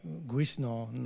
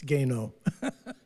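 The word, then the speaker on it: Guesnon: People pronounce it like Guisnon or something, but it's Gaynor. That's, you know, crazy French spellings and stuff.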